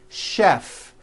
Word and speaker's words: chef: And to make things even more difficult, there are a couple of words that are spelled with CH and are also pronounced with the sh sound. Words like chef and the city of Chicago.